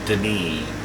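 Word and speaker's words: D'ni: again the city of den that's spell the apostrophe n i and that's how it's pronounced Den it's not pronounced it's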